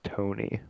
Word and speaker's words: Toney: Toney.